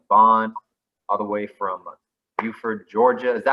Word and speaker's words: Buford: special guest isaiah bond all the way from beaufort georgia is that how you pronounce it isaiah yes there it is love